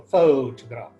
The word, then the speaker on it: photograph: phot odr appeared photograph in the word photograph the first part of the word that is fo the word has three parts three simple syllables so to graph in this case the stress falls on the first syllable photograph when we is